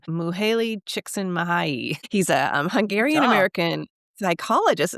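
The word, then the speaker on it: Mihaly Csikszentmihalyi: flow by I can actually say his name Muhaley chicken mahayi he's a Hungarian American psychologist yeah um and He um wrote this book in 1980 called flow the psychology.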